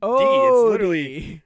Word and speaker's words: Odie: There's an O. My name sounds like O. Odie.